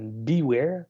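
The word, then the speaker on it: Biewer: C'est un Beware, donc ça s'écrit Beaver, excusez.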